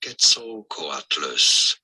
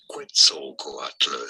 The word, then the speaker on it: Quetzalcoatlus: There are two different ways of pronouncing this, either as Quetzalcoatlus, or as Quetzalcoatlus.